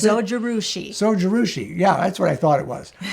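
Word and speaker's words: Zojirushi: It's called the Jiroshi. Is that how you pronounce it? Sojirushi.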